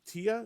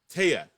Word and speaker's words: Tia: One of them is Tia. Is that how you say it? Taya. Taya. Taya.